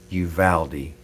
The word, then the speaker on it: Uvalde: But I shouldn't have a smile on my face because this is a horrible tragedy in Uvalde. It's pronounced Uvalde, Texas.